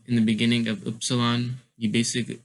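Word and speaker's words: Ypsilon: I don't know why this one's so long, but that's just how it's pronounced.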